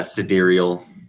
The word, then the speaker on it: sidereal: Yeah, sidereal.